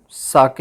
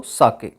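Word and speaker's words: 酒: इसको प्रोनाउंसिएशन साके होता है। साइज प्रोनाउंस्ड लाइक फा इन द फादर एंड के राइम्स विद वे, तो साके।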